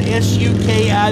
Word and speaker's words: Suki: Her name is spelled S-U-K-I. That's the only way I know how to pronounce it is Suki. If you know a better pronunciation, please let me know.